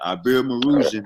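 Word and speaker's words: Iberomaurusian: Ibero-Marusian, that's how you say it, Ibero-Marusian.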